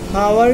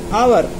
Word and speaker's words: hour: अब इसको हावर नहीं बोल सकते अपन, एच का उच्चारण हा नहीं होगा, आवर।